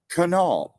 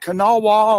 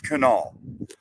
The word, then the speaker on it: Kanawha: That's Kanawha, not Kanawha or however else you were mispronouncing it. It's Kanawha.